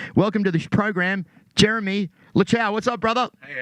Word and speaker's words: Luchau: do you pronounce it it's pronounced lucow cow yeah it's german but you know growing